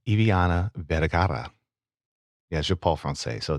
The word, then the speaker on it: Eviana Vergara: So again, today I have the wonderful, the talented, the roll your R's. I'm gonna do this right. Are you ready for this? I have Eviana Vergara.